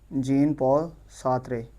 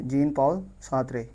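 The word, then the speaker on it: Jean-Paul Sartre: जीन पॉल सात्रे सात्रे। जीन पॉल सात्रे। यह थोड़ी सी pronunciation देख लेनी है।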